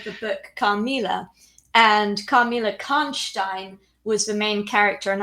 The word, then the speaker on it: Karnstein: The pronunciation of the name, Stein is a Jewish person. Steen is Jewish, Stein is German. Am I right?